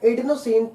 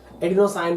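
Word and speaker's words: adenosine: जो एटीपी है इसका फुल फॉर्म होता है एडिनोसिन ट्राइफॉस्फेट, और एडीपी का फुल फॉर्म होता है एडिनोसिन डाइफॉस्फेट, या इसको एडिनोसाइन भी पढ़ा जाता है, प्रोनाउंसिएशन का डिफरेंस है।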